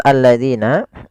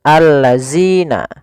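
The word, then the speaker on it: الذين: Kemudian hati-hati pada lafal alladzina, jangan sampai kita membacanya zina misalkan allazina. Nah, ini kurang tepat atau salah. Kenapa? Karena dia merubah huruf antara huruf zal diganti dengan huruf zai.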